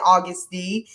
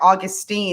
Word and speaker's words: Auguste: It's whatever registers in everybody's mind, but at least you said Auguste. I've had people say like Augustine, and I'm like, that's not even phonetically possible.